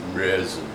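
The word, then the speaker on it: Märzen: I heard you gotta roll your tongue when you say Marzen. Yep. Well, it's like Marzen. Marzen. Marzen. There's no mit. It's Marzen.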